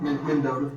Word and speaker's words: Mendota: What's in Mendota, Virginia? I don't know. Mendota? How you say it? Yeah. Okay. Is that how you say that one? That's right. Mendota. You mean Mendota, Virginia?